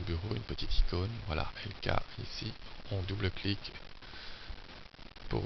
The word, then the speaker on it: Elka: sur le site de LK donc qui est notre laboratoire donc 3wlk.be donc LK ça s'écrit e lka une fois que vous